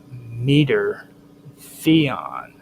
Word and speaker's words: Meter Theon: In Greek religion, she was known as meter Theon.